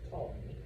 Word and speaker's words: Ptolemy: Egypt is taken over by his general, a man named Ptolemy. Yes, the P is silent. All right, I'm sorry. It's like psychology or whatever other Greek word.